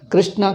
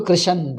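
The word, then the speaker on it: कृष्ण: Krishna ko Krishan they call it.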